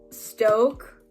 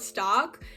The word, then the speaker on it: Stoke: I always used to call it stock, but everybody would say Stoke, and I'd be like, okay, like I must be pronouncing it wrong. And I mean, it kind of makes sense because there's no C for it to be stock.